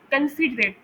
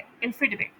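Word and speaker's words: considerate: इसे अक्सर लोग कंफिडरेट प्रोनाउंस कर रहे होते हैं। यानी वो पहले सेलेबल पर जोर दे रहे होते हैं। लेकिन ऐसा नहीं है। इसमें सी पर जोर होता है। कन्फिडरेट क्फिडरेट।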